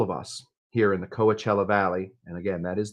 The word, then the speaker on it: Coachella: That is what I have for you guys from all of us here in the Coachella Valley.